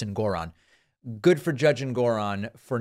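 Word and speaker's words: Engoron: Good for Judge Ngoron, who I guess I've been pronouncing his last name Ngoron incorrectly. Apparently it's Ngoron.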